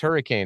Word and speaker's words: Hurricane: for the hurricane stuff it's not it's just hurricane that's what it is there's no world in which it's possible that it's pronounced hurricane uh but I've said like um I was